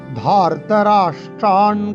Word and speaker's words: ধার্তরাষ্ট্রান: দৃष्ट्वा, অথ ব্যবস্থিতান দৃष्ट्वा ধার্তরাষ্ট্রান কপিধ্বজः। ধাতে আমরা টান দেব।